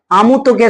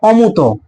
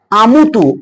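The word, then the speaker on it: أَمُوتُ: যেমন আপনি বাচ্চাকে শেখান কি শেখান আল্লাহুম্মা বিসমিকা আমুতকে শেখান অমুত আরকে শেখান ওয়াহিয়া যার কারণে আমরা যখন কোন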